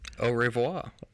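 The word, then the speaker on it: au revoir: i think it's time for us to say oh revoir i you said it right i nailed it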